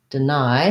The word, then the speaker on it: deny: la ideology ideology and deny second syllable stress deny so just like we were talking about at the beginning here's an example of the d e unstressed in the first syllable that sounds like di and then the i diphthong again deny um so you can